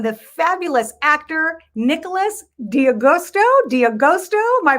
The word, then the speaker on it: D'Agosto: want to welcome the fabulous actor nicholas diagusto dia gosto am i pronouncing that right yeah you you did great